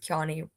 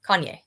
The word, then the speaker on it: Kanye: Heath Ledger was in the screenshot starts with Kane Kanye West. Why can't I say his name that right? Kanye. Kanye.